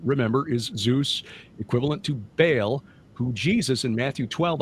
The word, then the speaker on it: Baal: he referred to it as the super Baal, which is the correct pronunciation of Baal of the Bible, Baal.